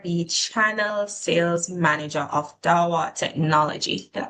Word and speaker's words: Dahua: So, you are the channel sales manager of Dawa Technology. Did I pronounce that right?